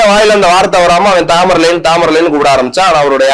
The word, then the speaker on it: தைமூர்: சொன்னா ரொம்ப கம்மியா இருக்கும் தாமரலைன் அப்படின்றதுல ஒன்னும் இல்ல இது வந்து ஆங்கிலேய உச்சரிப்பு தாமரலைன் என்று அழைக்கப்பட்ட அரசர் இவர் தாமரலைன்னா யாரும் கூப்பிடல ஆங்கிலேய உச்சரிப்பு இவருடைய ஆக்சுவலா பேரு தைமூர் ஆனால் அவரை நக்கல் அடிக்கிறதுக்கு